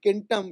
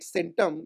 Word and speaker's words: centum: 100, used to be kentam in Latin. So in, you know, now we call it centum in Latin, but in original Latin pronunciation it used to be kentam, and in Greek it was katon.